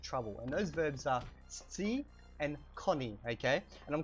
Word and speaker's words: scii: and those verbs are Scii and Koni, okay? And I'm kind of drawing out that Scii, the SC sound, because I want to, sorry, my phone just went off.